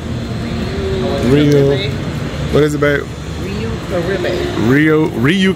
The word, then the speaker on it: Riu: I always say Rui. Riu.